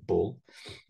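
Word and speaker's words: 불: here and this is the way the character for Buddha is pronounced in Korean Bull and Wang Jang man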